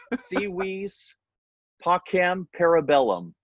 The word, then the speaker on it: Si Vis Pacem, Para Bellum: the album name either it's like a lesson in Latin right sea wees POC ham para bellum I just want everybody